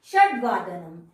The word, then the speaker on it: षड्वादनम: ये षड नहीं है, ड आधा है। षड्वादनम, सप्त अ है यहाँ पर, तो सप्तवादनम नहीं, सप्तवादनम, अष्टवादनम, नववादनम, दशवादनम, एकादशवादनम, द्वादशवादनम।